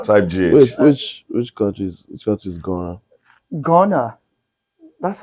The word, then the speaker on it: Ghana: Wait, which countries Ghana? Ghana. That's how it's pronounced.